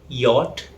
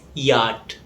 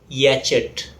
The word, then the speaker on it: yacht: In British English, it's pronounced as yacht. In American English, it's pronounced as yacht. Its meaning is a luxurious boat. It's often mispronounced as yacht.